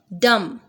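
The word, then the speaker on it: dumb: डम, B pronounce नहीं होगा।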